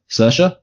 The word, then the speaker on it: Saoirse: Well, it's a very counterintuitively spelt name, but it's actually pronounced Saoirse.